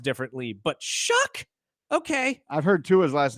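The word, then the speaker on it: Shough: I'm sorry, Tyler Shuck. I Who would have known, dude? The way it's it's just like I'mma leave you. It's spelled like s. I'mma leave you. It's s o u g h. Shuck.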